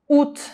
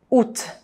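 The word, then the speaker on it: août: UT, Então isso aqui não tem pronúncia, Você só vai falar isso aqui. “Ut”. E ainda não é com som de “î” e com som de U mesmo, Ut.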